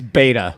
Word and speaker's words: Beta: I think it's beta. Beta, like a beta fish.